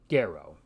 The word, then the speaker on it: gero: In classical Latin Kiko the letter G is always pronounced hard as it is in the English word gap so this Latin word which means I bear or I wear is pronounced gero so this is paraffin